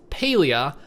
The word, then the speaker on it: Palia: and they confirmed that this is actually pronounced palea on their twitter so i guess since